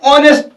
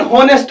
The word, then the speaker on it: honest: हम कैसे ऑनेस्ट, हम नहीं होनेस्ट बोलते हैं, यहां पे कैसे प्रोनाउंस कर रहे हैं यहां पे ऑनेस्ट को, HONEST, ऑनेस्ट। जो H है यहां पे भी H साइलेंट रह रहता है और हम यहां पे O की आवाज निकलते हैं, O की जो है साउंड निकल रही है यहां पे, इसको भी